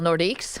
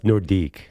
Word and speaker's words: Nordique: And has anyone noticed that I happen to a little Nordics? I have a Nord Well, it's Nordique. Sorry. Pronounced in France.